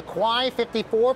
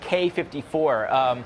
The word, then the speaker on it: Quai 54: one what is it the quai 54 for Kawhi Leonard no I think it's actually pronounced K 54 this is actually a